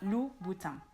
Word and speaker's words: Louboutin: It's not Louboutin, it's not Louboutin, but Louboutin. Louboutin. So just like in Vuitton, the N at the end of the word is not pronounced. Louboutin.